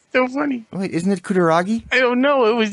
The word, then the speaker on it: Kutaragi: it's not like, oh, geez, what was that guy's name you could never pronounce? That Japanese guy's name. Kutarami? Kutaragi.